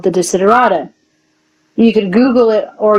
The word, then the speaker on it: Desiderata: The word is a one word that's pronounced Desiderata, and yeah, you can look it up.